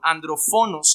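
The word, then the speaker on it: ἀνδροφόνος: palabra asesino que es la palabra andrófonos Perdón andrófonos es la pronunciación más correcta que es asesino en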